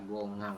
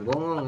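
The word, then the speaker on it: 공항: seperti itu oke ya Jadi dibacanya adalah gongang bukan gongong ya Kok gongong sih mana ini seperti itu mas apa ini ini diac apa ini ter itu ada di mana kalimat tanya seperti itu ya silakan diisi jawabannya seperti ini teman-teman ya gongangi seperti itu ini kenapa kok dibacanya bukan gonghang karena Seperti penjelasan kemarin H tidak dibaca ya apabila peletakannya selain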